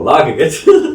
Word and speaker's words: Lagagut: Oh, I pronounced it wrong before. Lagagut. Not Legagut, Lagagut. Big difference, people.